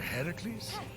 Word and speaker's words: Heracles: doing there that thing with your voice the heracles yeah that that is how it's supposed to be pronounced seems like a lot of work but